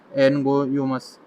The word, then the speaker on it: Angoumois: इसके अलावा एक मॉथ होता है जिसे हम एनगोयोमस मॉथ, ग्रेन मॉथ जो है उस वो बोलते हैं। ये स्पेलिंग ध्यान रखना, ANGOUMOIS, एनगोयोमस ग्रेन मॉथ।